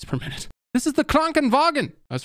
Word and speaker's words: Krankenwagen: Crankenwagon. Am I saying that right? God, how else could I pronounce it? My dumb American accent. Krankenwagen. Google translate this. Krankenwagen. Hey guys, I figured it out. Krankenwagen.